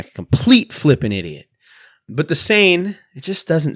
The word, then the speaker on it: Seine: fingertips how do you pronounce sane it is pronounced sane very good thank you internet the sane watch it's wrong and I'm going to sound like a complete flipping idiot but the Sayan it just doesn't sound right whatever but but